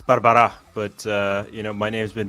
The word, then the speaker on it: Barbara': So I'm going to say Barbara. Close. It's Barbara, but my name's been butchered in more ways than you can possibly imagine.